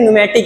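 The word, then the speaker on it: pneumatic: चौथे का हमारा न्यूमेटिक, इसमें पी साइलेंट, ध्यान दीजिएगा, पी साइलेंट, इसे हम क्या कहते हैं, न्यूमेटिक एक्वेटर।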